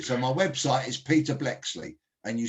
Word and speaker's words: Bleksley: now my surname is very unusual and i'll spell it for you so my website is peter blexley and you spell blexley b l e k